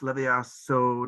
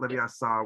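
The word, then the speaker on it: Leviosa: say it right um it's levia so not leviatha saw whatever i always but how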